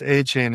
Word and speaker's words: Etienne: It's Travis Achain Etien. Or is that how you pronounce it, right? Didn't he say that's how you pronounce it? Travis Achain is how you pronounce it.